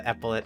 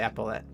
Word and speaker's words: epaulet: We've got the epaulet shark. Is that how you say it? I say epaulet. Yeah, epaulet shark.